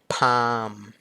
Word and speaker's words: palm: calm ก็ แปล ว่า ใจ เย็น ใช่ ม Palm Palm ก็ คือ ฝ่า มือ ต่อ มา have